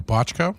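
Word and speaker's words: Bochco: Uh he was apparently there was a agreement between him and Steve Bocho Boo or Bocho however you pronounce it. Who was the other NYPD Blue producer? Oh, Botchko.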